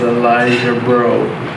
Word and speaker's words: Elijah Breault: Hello, my name is Elijah Breault.